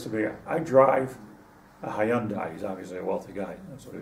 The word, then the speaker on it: Hyundai: Is that how, am I pronouncing it good? Yes. He said Hyundai.